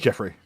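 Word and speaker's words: Giuffre: Virginia. G I U F R E. It's Jeffrey. Is it legit spelled or Jeffrey or goof? Oh my god. Did it crash again? It's either Jeffrey or Goof.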